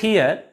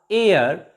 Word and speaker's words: heir: h is also silent here and h e i r air not here honorable not honorable pay